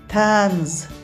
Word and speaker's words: طنز: و چطور تلفظ میشه توی تنز ایجا ت ت تلفظ میشه توی تنز تنز چی